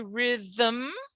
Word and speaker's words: rhythm: it but not always when i say rhythm rhythm this is a syllable without a vowel right because the m is